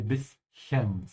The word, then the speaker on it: bisschen: Yeah, the first word is bis. Yeah, bis. And you want to make it like a small bite to make it something tiny, like a bit. You say bischen. At this point here, in the middle of the word, you have to open your mouth and not let your upper and lower teeth touch.